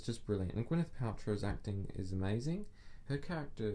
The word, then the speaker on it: Gwyneth Paltrow: So watch out for Gwyneth Paltrow. That's how you pronounce her name.